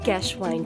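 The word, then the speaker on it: Geschwind: has symptoms that include gwine syndrome pronounced as GES wine syndrome a characteristic behavioral syndrome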